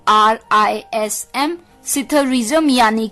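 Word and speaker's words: psithurism: alphabets का शब्द है इसमें पी जो है वो साइलेंट है सिधार्थिस्म पीएसआईटी हा यू आर आई एस एम सिथूरीसम यानी की आ रेसलिंग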